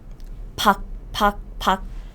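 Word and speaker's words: 밖: example outside outside outside outside in korean is pak so this is like b this is like a this is like i said this is kk right but if this sound comes at the bottom position it just sounds like 1k 1k yes it's pac means outside and this kkk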